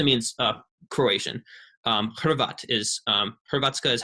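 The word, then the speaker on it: Hrvatska: croatian it literally means uh croatian um is herbatsuka is how you say croatia in croatian and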